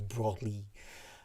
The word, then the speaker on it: Broglie: I needed to click that thing on Wikipedia as to how do you pronounce it, but apparently it's Broglie. But my French accent is terrible.